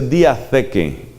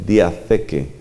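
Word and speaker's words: διαθήκη: La palabra alianza en griego se dice diatheke. Eso se escribe como se oye diateque, pero con TH, diatheke.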